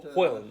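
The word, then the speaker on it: Chełm: And Helm, I think they pronounce it, but it's spelled CELM something by the Yeah.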